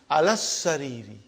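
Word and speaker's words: على السرير: See how I am pronouncing? Alas-sariri. It's a shadda. Alas-sariri, I did not pronounce alif, I did not pronounce lam. You get to get into practice.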